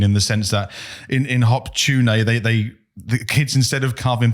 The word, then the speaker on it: Hop-tu-Naa: They call it hop-tu-naa. Hop-tu-naa. Hop-tu-naa. Right. But this is. I was reading an article about hop-tu-naa, but it's spelled HOP-TU-NAA. Okay. So it sounds like hot tuna.